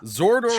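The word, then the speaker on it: Xardorok: And this is oh god, I think it's Zordarok. I think that's his name. I have the pronunciation right here, which is probably what I should have done to begin with. Let's see. Keep up, Trevor. Zordarok.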